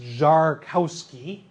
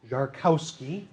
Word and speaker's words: Szarkowski: so who is this john zarkowski guy properly pronounced jarkowski jarkowski he was first and foremost a photographer and